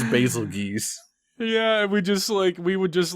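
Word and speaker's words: Bazelgeuse: name, we'd say it's basil juice. You know, I couldn't believe it when like the voice actors tried to tell me that it's Basilgeuse, because I'm like, no, it's basil juice.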